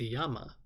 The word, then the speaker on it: llama: I believe it's actually pronounced Yama.